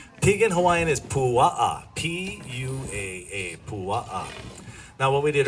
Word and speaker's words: pua: P U A.